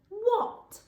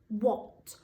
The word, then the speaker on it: what: think of time first what so the bit that's tricky in this word is that letter a that would usually make an a sound but in this word it makes an oh what also we've got that